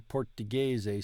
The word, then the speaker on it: portoghese: The letter G in portoghese sounds like the G in gelato.